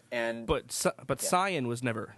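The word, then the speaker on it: Saiyan: said kaio-ken yes he said and but but cyan was never said sign it was always always saying since the conception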